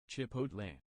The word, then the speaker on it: Chipotle: Getting the L and the T turned around. Switching the L and the T. Never mind, you were saying it right. Do the T, say T at the end.